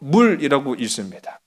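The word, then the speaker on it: מול: 이 할례, 여러분, 이게 제가 물이라고 썼는데 이게 히브리어로 물이라고 읽습니다.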